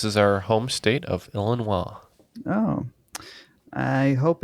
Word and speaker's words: Illinois: we think this is our home state of Illinois oh I hope it's not because we said Oklahoma and the answer is Illinois oh boy yeah when I when I was